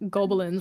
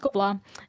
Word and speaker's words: Gobelins: It literally looks like, if you read it, I promise you would think it was pronounced like Gobelins or something. It's pronounced Gobla.